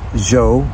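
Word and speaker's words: Zhou: Z Dynasty Joe Joe you could say it's pronounced zo it's spelled z h o u z hou dynasty of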